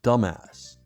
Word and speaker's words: dumbass: The B in dumbass is silent.